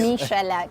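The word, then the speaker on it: Michalak: I don't know how to pronounce that. I'm sorry, you do this. Michelak.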